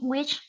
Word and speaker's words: with: Working with movie stars is very demanding. Demanding, very good. Esta palabra se pronuncia with. La H no suena, sería With. solamente with.